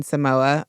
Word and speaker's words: Samoa: looks to Northern Mariana Islands Democrats in American Samoa a territory of the United States had voted